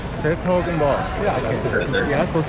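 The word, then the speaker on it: 's-Hertogenbosch: s-Hertogenbosch, the full name. I've been wondering how to pronounce that. s-Hertogenbosch. s-Hertogenbosch.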